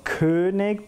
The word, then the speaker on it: König: The German pronunciation of that name would be König, but the Ö is not a sound that exists in English, or Spanish for that matter.